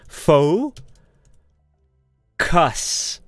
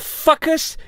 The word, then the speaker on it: focus: need to Ho Kus so how do I teach my students fo cus focus so cook occur cus okay do not say okay us right you need to focus okay and fucus you must do it properly like what the hell